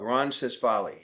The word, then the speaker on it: Ronsisvalle: just the way it's spelled, Ronsisvalle.